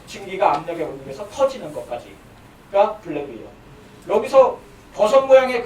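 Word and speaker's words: BLEVE: 블레비가 아까 설명했던 게 다시 나오게 되는데 블레비는 이거 영어로 뭐라고 읽어요? 혹시? 블레비 말고 빌리브죠? 빌리브인데 누가 이렇게 이름 붙였는지 모르겠어요. 근데 이름은 블레비라고 읽어요. 빌리브가 아니라.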